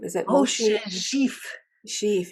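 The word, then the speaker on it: Szyf: epigeneticist, and I wasn't really sure how to pronounce his name. Is it Oh, Moshe Sheaf. Sheaf? Sheaf.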